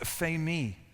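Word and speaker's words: φημί: And he says to himself, the second Greek word that Jesus uses here is pronounced phemi, which means to declare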